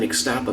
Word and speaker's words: Ixtapa: Hello everybody, I'm standing here in the Barcelo Hotel in Ixtapa, Mexico. That's the American pronunciation anyway.